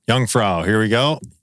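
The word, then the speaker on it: Jungfrau: All right, we got to go to uh my uh pronunciation again. Youngfra. Youngfra.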